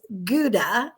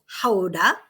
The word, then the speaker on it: Gouda: and yesterday we were in houda which everyone pronounces as gouda and but really it's haudah is that where the cheese comes from is